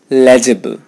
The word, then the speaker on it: legible: legible not legible legible I know there is an eye there but you're not going to pronounce it it's legible there's no e sound in this word legible if one is not